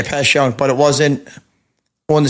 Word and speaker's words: Passyunk: same street what's that pass youngk is that how you pronounce it yeah pass youngk but it wasn't on